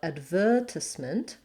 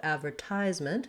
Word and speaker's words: advertisement: to you the differences so advertisement they have the black vowel and instead of the z sound we have advertisement they have the s sound here advertisement because that's